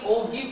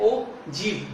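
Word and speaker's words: ogive: वैसे तो इसको आप रीड कैसे करोगे? ओगिव, लेकिन इसकी प्रोनाउंसिएशन क्या है? ओजिव, G-E-E. तो आप इसको ऐसे प्रोनाउंसिएट कर सकते हो ओजिव.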